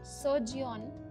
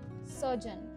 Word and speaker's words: surgeon: quickly orthodontist orthodontist next is surgeon that's not sergion that's surgeon surgeon statistician statistician statistician next is software developer software